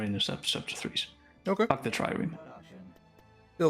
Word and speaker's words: trireme: We also have the Tremay, or the, how do you pronounce this? Trireme.